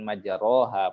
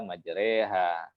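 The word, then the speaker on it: مجراها: Artinya secara pengucapan bahasa Arab yang digunakan itu aneh gitu, membacanya majreha, kenapa bukan majaroha, padahal tulisannya majroha, gitu ya. Tapi dibaca ternyata majreha, gitu ya.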